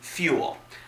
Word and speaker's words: Ful: the brick house mono sling from the brand fuel that brand is pronounced spelled out as F long you else